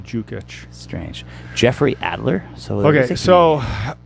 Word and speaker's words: Dukic: Jukic. D-U-D-U-K-I-C. You could spell it all you want. It's still Jukic.